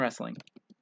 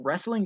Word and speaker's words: wrestling: are completely silent okay that w is silent we only pronounce the r right alex says that